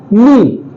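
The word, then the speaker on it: knee: ये साइलेंट होता है अगला वर्ड है हमारा नी नी देखा जाए तो ऐसे ये किनी लिखा हुआ है क्या लिखा हुआ है किनी लिखा हुआ है लेकिन क्या आप हम कभी इसे किनी बोलते हैं नहीं क्यों क्योंकि इसमें जो हमारा के है बेटा वो एकदम साइलेंट है हमारा के नहीं बोला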